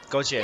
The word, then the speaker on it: Gauthier: Correct me if I'm wrong, but Team Gauthier. Goche. Goche. Yeah. I said it wrong.